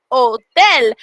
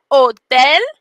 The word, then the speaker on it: hotel: and not hola and the word hotel is spelled the same from english to spanish but because we don't say the h hotel is ho del can you say odell the j in spanish